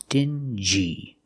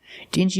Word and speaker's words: dingy: look at this word this word is dingy we're going to pronounce the G like jump and juice dingy dingy is an adjective it